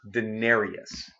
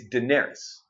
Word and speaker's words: Daenerys: buzz does this when they call her Denarius that's not how her name is spelled it's just YS and on the end it's not like Y us which would be Denari us its Daenerys if you look up